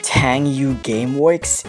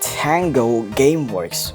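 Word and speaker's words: Tango Gameworks: game from 10U Gameworks Tang you Gameworks it's pronounced Tango your game works oh my God how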